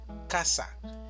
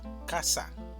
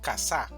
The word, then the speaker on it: casa: Si esta mayor fuerza de voz estuviera en la segunda sílaba, diríamos casá. Pero la pronunciación correcta en español es casa. Es decir, el mayor énfasis va a estar en la primera sílaba, casa.